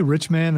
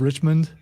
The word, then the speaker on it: Richmond: never mind never mind did you say rich man instead of Richmond I I may have